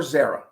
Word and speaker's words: Zara: Would she pronounce it Zara or Zara? I didn't know. So I said, hi, My name is, and you are, and she said, Zara. Now, somebody else might say Zara.